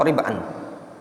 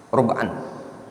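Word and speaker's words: رُبْعًا: Itu bacanya rub'an atau rib'an. Rub'an.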